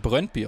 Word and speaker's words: Brøndby: Und jetzt wird mir hier gerade nochmal im YouTube-Chat gesagt, es wird Brøndby ausgesprochen.